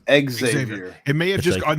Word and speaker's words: Xavier: You're saying it wrong. It's Xavier. Xavier. It may have just gone. Now we're going back to the fucking TV. It's like XZAYVIER.